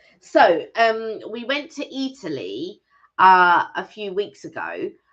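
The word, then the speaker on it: Eataly: little place called Italy now Italy it's spelled like Italy but e a rather than the I so uh it's a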